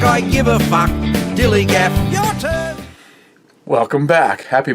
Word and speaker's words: DILLIGAF: Dilligaff. That's spelled D-I-L-L-I-G-A-F, Dilligaff.